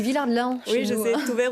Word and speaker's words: Villard-de-Lans: à Villars, vous voyez, je prononce le Lens, parce que je suis pyrénéenne, je prononce toutes les lettres. Nous, on dit Villard-de-Lans.